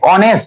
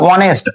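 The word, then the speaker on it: honest: কি কনসোনেন্টের মতন হচ্ছে অনেস্ট উচ্চারণটা কিন্তু ও আগে আসছে আগে আসছে তাহলে এর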